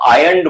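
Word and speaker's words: iron: वैसे आयरन में रा को साइलेंट बोला जाता है, तो आयरन बोलते हैं इसको, आयरन, है ना, रा को लगभग नहीं बोलते हैं।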